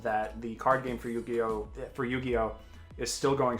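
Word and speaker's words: Yu-Gi-Oh!: killed the conversation i'm sorry i didn't dueling eugeo we will keep an eye out for you it's pronounced yu-gi-oh yu-gi-oh excuse me i'm sorry i know better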